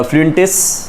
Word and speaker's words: Fuentes: It is written by G.L. Fluents या फ्लुएंटिस, ठीक है. अलग अलग प्रोनाउंसिएशन है इसके.